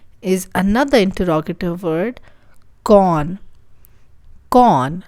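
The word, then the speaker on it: کون: कौन, like a con man.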